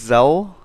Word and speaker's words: Zele: to pronounce her name i think it's zell silent e z-e-l-e but uh she's the